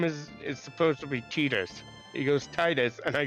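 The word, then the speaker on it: Tidus: first game call him simultaneous simultaneously tus and Titus and then the second game do the same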